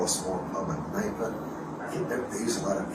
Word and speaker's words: Kneipe: and the Germans call a small pub a Kneipe. They use a lot of K-N words. Okay, how do you say it? K-N-E-I-P-E.